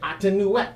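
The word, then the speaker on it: Amonute: That's how you say it, Atenuet.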